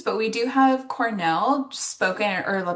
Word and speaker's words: cornel: So not a lot of other names but we do have Cornell spoken or pronounced just like Cornell University.